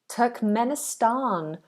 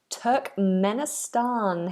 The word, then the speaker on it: Turkmenistan: give you any misinformation this one is Turkmenistan Turk Menan hello Robin ho how are you Turk Menan